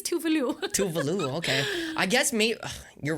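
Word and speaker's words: Tove Lo: So like, it's really funny how people pronounce these Swedish artists. I'm like, I was correct. Actually, it's Tuvalu.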